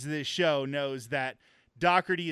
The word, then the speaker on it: Doherty: First of all, anybody who listens to this show knows that Doherty is not spelled as it is pronounced.